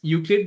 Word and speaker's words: UQLID: There he heads the Euclid Lab, which is pronounced as Euclid, but it's actually UQLID, where his group develops